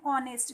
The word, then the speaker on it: honest: So is used before a word which begins with a vowel sound, and also when the first letter, especially H, is silent.